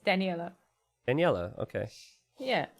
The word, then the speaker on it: Daniela: You're pronouncing it great. It's Daniela.